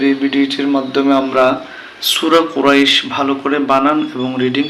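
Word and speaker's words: قريش: ইয়া জো জম রই কুরাই শিন দুই জের শিন কুরাইশিন কিন্তু আমরা যখন এখানে থেমে যাব তখন উচ্চারণটা হবে কুরাইশ লিলাফি কুরাইশ লিলাফি কুরাইশ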